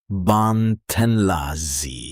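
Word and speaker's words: bạn tên là gì: You ask, ban ten la zi pronounced ban ten la zi.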